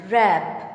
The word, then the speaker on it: wrap: Wrap. W is silent.